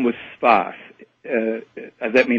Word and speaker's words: Sfath: Whose name was Sfath. That may not help matters, but he was called Sfath. I believe it was spelled S-F-A-T-H. That's how it's kind of written and pronounced in the...